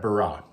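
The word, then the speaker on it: ברא: rash then Olive then and we pronounce that barah so it' be b r a the way we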